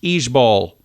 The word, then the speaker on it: IJBOL: out uh i j b o l is pronounced each Bowl so if somebody says it instead of saying